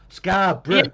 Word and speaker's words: Scarborough: And if you say borough on the end of a word, you pronounce it bruh. Scarborough.